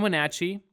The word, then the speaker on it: Wenatchee: It's like Snatch for the Natch part.